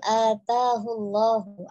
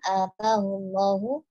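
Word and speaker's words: أتاه الله: Sedikit untuk pengucapannya, rojulun atahullahu, A-nya agak dipanjangkan ya, atahullahu, baik di awal, yang kedua juga tadi dibacanya pendek, kemudian malan, tidak ada tasydid pada huruf lamnya, terdengar tadi dibacanya malla.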